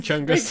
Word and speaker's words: Chungus: And then in later that night, I was just with Rose, and then I just thought, oh, what does Chungus rhyme with? It rhymes with fungus.